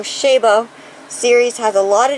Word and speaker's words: Chabaud: foliage here and the i believe it's pronounced oh shabo series has a lot